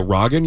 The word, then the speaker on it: Rogen: Phonetically is Rogan. Oh, you're killing it tonight. I love this. You like that? Yeah. Oh, Rogan? Because it's got 2 G's.